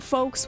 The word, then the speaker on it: folks: Um, but like I always knew that folks was spelled with an L, you know, but I never heard people say the L until like YouTube video essays. It's a silent L.